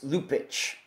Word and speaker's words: Lupaca: it's spelled l u p a CA but pronunciation wise if we want to be correct here on found it's lupic lupic yeah all right very good Tatiana lupic